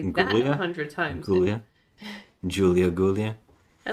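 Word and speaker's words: Giulia: don't remember any other name but Mar it's Julia you have to remember Julia they say that 100 times gulia Julia I like her name it's spelled with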